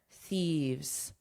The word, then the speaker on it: thieves: Notice the pronunciation here thieves because the singular is one thief.